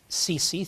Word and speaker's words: Sisi: The president of Egypt, Sisi, or Sisi, or however he pronounces his name. Military dictator we support. Sisi. Sisi, thank you very much.